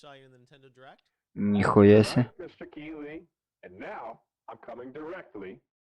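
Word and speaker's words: Keighley: jeff jeff keely anybody i think it's pronounced keeley spelled strangely but i think that's right um can someone find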